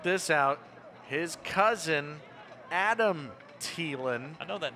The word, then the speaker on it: Thielen: who i find out almost everybody in the country has been saying his last name wrong everybody calls him adam thielen the wide receiver for the minnesota vikings turns out it's adam thielen jacob his cousin the